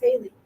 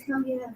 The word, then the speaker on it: Haley: It's spelled hell yeah. Right. Jerry's like, you got to get her last name right because it's hell yeah. I'm like, no, it's Haley. She's like, no, it's hell yeah.